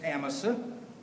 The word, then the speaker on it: Amasa: The correct pronunciation is Amasa, but his best friends always called him Amasa.